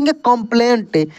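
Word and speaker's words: complaint: हूं ताकि आपको दिखे सी ओ एम पी एल ए आई एन टी इसको पढ़ कंप्लेंट देखिए यहां पर भी हम लोग सी से क्या पढ़ रहे हैं क ही पढ़ रहे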